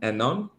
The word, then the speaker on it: Annan: In your last name, how do you pronounce it? Annan? Annan.